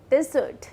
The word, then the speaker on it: desert: First word है यहाँ पे डेजर्ट और डिजर्ट. अब हम जब एक रेगिस्तान की बात करते हैं तब उसकी स्पेलिंग होती है DESERT, जिसे हम प्रोनाउंस करते हैं डेजर्ट.